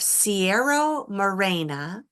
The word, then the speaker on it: Sierra Morena: Okay, so now we need a couple more words for the pronunciations before we read the next section. We have Sierra Morena and Miko Mikono.